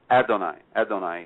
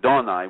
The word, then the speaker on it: Adonai: So we're going to put in Adonai, you know, or which should be pronounced correctly, Donai, which means the sunrise.